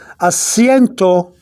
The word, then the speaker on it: asiento: That means you have to blend in, the two vowels right here in.